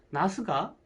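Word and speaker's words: なす: 왜냐하면 일본에서는 식물 가지의 일본어 발음이 나스입니다. 나스. 나스가 추나 추동, 여름 나스하고 음이 닮았습니다.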